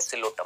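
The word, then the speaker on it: Psilotum: ठीक है, देखना चाहेंगे कैसा दिखता है सिलोटम? दिखाऊं कुछ इस तरह। ये है बेटा जी आपका सिलोटम। आप बोलेंगे सर इसमें तो अंग्रेजी में पी आ रहा है, पी बेटा साइलेंट है यहाँ पर।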